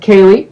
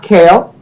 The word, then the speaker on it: Kaylee: the name pronounced again the name is pronounced kaylee not kale kaylee um how'd you come